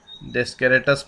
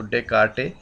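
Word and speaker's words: Descartes: इसी अवधारणा को लेते हुए फ्रांसीसी गणितज्ञ रेने दकार्ते, यहाँ पर लिखा हुआ रेने डेस्केरेटस पढ़ते हैं आप, जबकि एस इसमें साइलेंट है, तो डेकार्टे, और ये फ्रेंच वर्ड है।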